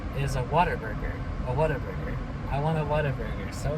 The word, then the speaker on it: Whataburger: at that moment called whataburger it's like what a burger it's like whatever and that's how it's spelled but it's one word whatever and uh it's the